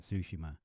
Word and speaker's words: Tsushima: I cannot say it right. I'm just going to say it how everybody else in America says it, Tsushima. But you actually pronounce the T and the S together, and it's like a ts type sound.